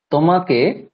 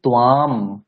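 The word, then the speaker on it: त्वाम्: বেশ, এবার বলুন সে তোমাকে দেখছে, সে তোমাকে দেখছে কি হবে? সে তোমাকে দেখছে। সহ তাম। হ্যাঁ, পশ্যতি। সহ তাম নয়, উচ্চারণটা হবে ত্বাম।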